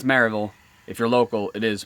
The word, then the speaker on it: Maryville: here and tell me, you don't pronounce it Maryville, it's pronounced Murville. It's pronounced Maryville. That's the way my voice says it. That's the way my mouth says it.